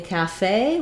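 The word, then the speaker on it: café: also asked about cafe in cafe we have second syllable stress we have the a black cat vowel so you can think about cat cafe and then we're stressing on the fey syllable there's our a diphthong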